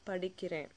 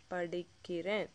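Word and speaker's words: படிக்கிறேன்: You can say naan padikiren, naan padikiren, not padikire.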